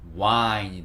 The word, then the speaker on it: wine: 있음으로 인해서 우아인 이렇게 되거든요 근데 얘를 빨리 발음하다 보니까 이게 와인이 되는 거예요 와인 그래서 w하고 y가 만나서 w가